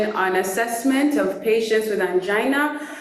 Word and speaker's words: angina: Number one, a point of correction is that most of the time we tend to think that the word is angina, but the correct pronunciation actually is angina.